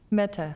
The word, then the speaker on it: Mehta: Did I say it right? Mehta. Pretty close. Sumiti Got it on the Mehta.